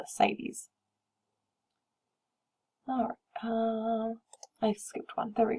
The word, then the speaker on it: ascites: that inflammation becomes painful the next word is ascites just pretend like the sea isn't there and pronounce that without the seat ascites any fluid that's accumulating